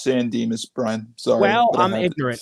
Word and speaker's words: San Dimas: San Dimas Mall Lego ideas set it is pronounced San Dimas brunt so well I'm Adrian I'm sorry Thank